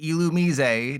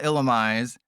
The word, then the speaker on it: Illumise: Yes, that's how you say it. It's pronounced Illumise, not Illumise. Is if you have Illumise and Volbeat in play, weaknesses ×3.